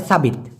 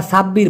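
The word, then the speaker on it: sabit: কাটে সেটাকে বলা হয় সাবিত ওকে অনেকে আবার সাব্বির বলে মূলত সাব্বির হবে না সাবিত হবে আচ্ছা আরেক ভাই জিজ্ঞাসা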